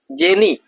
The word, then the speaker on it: genie: Jenny ya. Jenny ya. Tulisannya gimana? Jenie ya. Genie tulisannya. Tulisannya genie. Dibacanya Jenny dari bahasa Belanda.